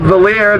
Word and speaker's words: Valier: My name is Valier. That rhymes with queer.